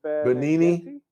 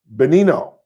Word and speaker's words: Benigni: Benino, I believe is how it's pronounced. I could be wrong. I think the G is silent. I think it's Benino. I'm not sure.